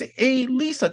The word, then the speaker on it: Alisa: It's a hard name. No, it's not. It's spelled like how it is. Yeah, but it's almost 5,000 other names. Yeah, Allison, Alisa, Alicia, Alicia. It's very confusing. It's Alisa. That's all it is.